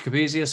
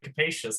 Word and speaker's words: Capesius: Capesius, am I pronouncing that correctly? It's actually capacious, but that's Capacious.